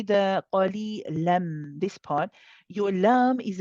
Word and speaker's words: قليلا: قليلا Yes, now hear yourself the way you are pronouncing the la, the ah sound, the lightness in it.